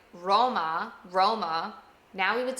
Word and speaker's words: Roma: So growing up, I would say Roma, Roma. Now we would say Roma. Do you hear that difference? Rana. Rana. Frog means frog. Rana. We're doing that quick flip of the tongue to pronounce the R.